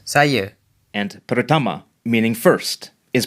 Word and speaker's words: saya: Saya, meaning I, is pronounced, saya, and pertama, meaning first, is pronounced.